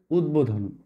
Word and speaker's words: উদ্বোধন: সেটা হলো এইটা দেখো উদ্বেগ উদ্বোধন এই জায়গাটায় কিন্তু বহালার উচ্চারণ হচ্ছে খেয়াল করেছো উদ্বেগ উদ্বেগ